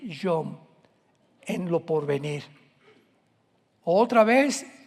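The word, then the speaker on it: יום: Postreros es acharit, así como suena con CH, se pronuncia acharit, acharit. Y tiempos o días son yom, Y-O-M de mamá.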